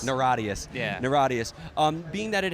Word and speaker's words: Niratias: How did you pronounce it again? Neuradius. Neuradius.